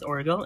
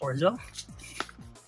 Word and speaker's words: Orgel: I just found out that you pronounce it as Orgel and not Orgel.